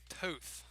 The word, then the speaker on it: Toth: After all these games, glad to know that I finally have the correct pronunciation. Toth.